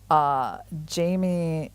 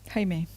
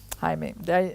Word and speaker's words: Jaime: Although it's funny how Niels Grandelius has so much less time than Jamie Santos Latasa. Jaime. Jaime. I knew I was going to mispronounce something.